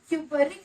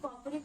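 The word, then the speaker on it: cupric: तो जो 2 वाला है वो बड़ा है डेफिनेटली, तो उसके आगे तुम क्या करोगे, क्यूपरिक लगाओगे। सनी कॉपरिक मत करना प्लीज, क्यूपरिक लगाओगे, क्यूपरिक बोलोगे उसे।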